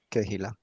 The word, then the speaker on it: Kehila: está, vea, Walter, si quiere la nota ahí, Keila, yo no sé si se pronuncia así, Keila, que es eclesia en hebreo. Kehila.